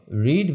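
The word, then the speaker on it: read: এখানে মনে রাখতে হবে রিড ভার্বের পাস্ট পার্টিসিপল ফর্মও আরই এরই। এর উচ্চারণ হবে আর ইডি মানে রেড।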